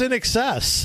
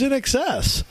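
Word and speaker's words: INXS: Where's In Excess? I didn't know how to pronounce it.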